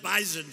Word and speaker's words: Bison: I said, I thought it was an S. They said it is, but it's pronounced bison.